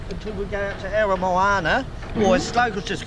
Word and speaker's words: Aramoana: we go out to Aramoana, or as locals just call it the Spit, it's easy to say, but Aramoana is the Maori pronunciation.